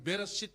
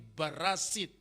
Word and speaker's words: Bereshit: Misalnya, dia menyebut bukan Bereshit tapi Barasit.